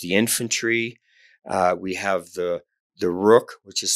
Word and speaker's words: Rukh: Yeah, well, all the pieces I've named from the original Indian chess, Chaturanga, there's the infantry, we have the Rukh, which is spelled R-U-K-H, which stands for chariot.